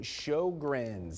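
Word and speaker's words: Sjögren's: Sjogren's, that's how you pronounce that name down there on the lower part of the screen.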